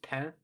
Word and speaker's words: pain: um no in french the word for bread is is spelled p a i n it's pen um but it's it looks like pain it's a running joke